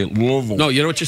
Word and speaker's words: Louisville: You don't say it Louisville. You say it Louisville.